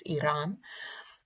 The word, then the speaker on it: Iran: And even even Americans who don't support Iran Iran Iran, let me pronounce the name correctly. Let's get it real. It's Iran.